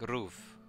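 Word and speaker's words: ロ: Pronounce it as Ro, like the word row.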